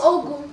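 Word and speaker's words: ogún: Ogun. We are not taking anything away from 20. Ogun. It will be what? Ogun. Ogun. But you have to pronounce it very well.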